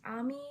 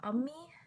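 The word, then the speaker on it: अम्मी: to know that the word mother is not pronounced Ami, but Ummi. Like, that's not a very difficult change. It's just me, Ummi.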